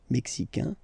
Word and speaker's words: mexicain: Le Mexique, mexicain, un here, like we had in américain, A-I-N, mexicain, and then mexicaine.